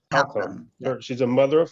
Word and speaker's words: Halcomb: Is that pronounced correct? Halcomb.